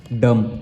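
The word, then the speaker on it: dumb: पढ़ेंगे इसको पढ़ेंगे क्या डम इसका उच्चार हो जाएगा डम क्योंकि एम के बाद बी आ जाता है उसके बाद हमारे पास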